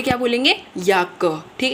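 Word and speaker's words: Jacke: तो जैसे अब ये वर्ड है तो इसको कैसे हम प्रोनाउंस करेंगे? याक। याक।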